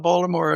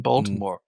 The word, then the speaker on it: Baltimore: I mean, the main thing about Baltimore is that I know is that you don't pronounce the T in Baltimore.